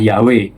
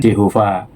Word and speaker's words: Yahweh: Jadi dalam bukunya itu ia berargumen bahwa bentuk pengucapan atau pelafalan asli dari nama YHWH adalah Yahwe dan bukan Yehova sebagaimana saya jelaskan dalam video sebelumnya.